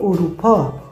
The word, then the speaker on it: اروپا: نقش اروپا است قاره اروپا در اروپا در کلمه اروپا الف چی تلفظ میشه او اروپا اروپا اروپا اروپا